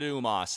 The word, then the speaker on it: U-Mos: Yes, I'm pronouncing it U-Mos. If you want to pronounce it some other way, well, that's your prerogative.